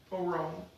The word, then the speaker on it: aron: It's spelled A-R-O-N. Aaron.